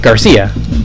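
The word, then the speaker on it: García: by sound, the Cia, they went with the S sound to try and sound like, you know, the correct Mexican or Spanish pronunciation of the word Garcia.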